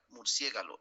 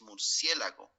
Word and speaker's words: murciélago: en la nuez murcia la murciégalo es murciélago algunos de los pot